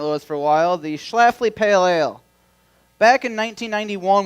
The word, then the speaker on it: Schlafly: to a bar and saw that schleifly or shipfly or whatever people used to pronounce it when they would see that tap handle in a bar they'd go i always have a schlafly they only would call it a schlafly i didn't know what